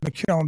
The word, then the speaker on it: McKeon: We call it McKeown because my mother was a McKeown. That's how you say it.